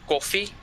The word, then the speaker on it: Koffie: We say coffee, Oh, okay. and then it's spelled Koffie.